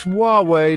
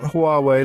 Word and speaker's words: Huawei: Wah like you're surprised, and way like you're giving directions.